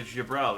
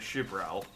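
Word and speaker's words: Xaela: right like I was calling them the gial and it's shal but you know how is do know X's are pronounced like shush cuz they're not always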